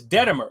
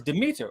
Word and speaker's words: Demeter: what what what he said is denimer d-e which which would be spelled at least d-e-t-e-n-e-r but the word is it is Demeter or Demeter yeah and so how